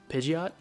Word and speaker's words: Pidgeot: of them like uh pidgeot yeah in the in the anime they called it pidget i'm like no you're wrong this time i'm the